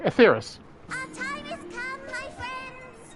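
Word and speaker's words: Etheirys: atheris to safety okay so I was pronouncing right atheris our time is come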